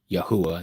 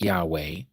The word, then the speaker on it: Yahuah: So they won't give you Yahuah, not Yahweh.